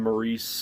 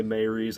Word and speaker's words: Maurice: maybe sigh i pronounced i pronounced the name maurice from the book I always said Maurice they say Mary's I'm just going to